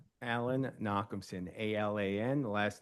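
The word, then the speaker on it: Nochumson: Could you um please state your name and spell it for the synographer? Alan Knockson.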